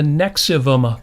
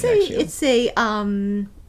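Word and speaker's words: NXIVM: Yeah, it's spelled Nexium, but it's pronounced Nexium. Yeah. Yeah. So, I think the V is intended to be like upside down, like a U. So I mean, so that would make it Nexium.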